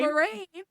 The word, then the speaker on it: Moiraine: Moyane. Look, Give it your best go. Give it your best go. Irane. Mhm. Moraine. Moiraine. Moraine? Moraine.